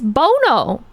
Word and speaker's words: Bono: It's Bono. How else would you pronounce that name?